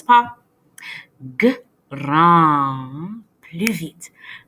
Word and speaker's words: grand: Grand. Il y a aussi la lettre D, mais la lettre D est silencieuse. Chut, on ne le prononce pas. Grand. Plus vite. Grand.